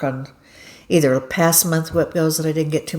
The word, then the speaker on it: WIPGO: Is I put the first week of the month on my Whipgo.